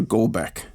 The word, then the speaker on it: Golbeck: Jennifer Goldbeck. Am I pronouncing that right?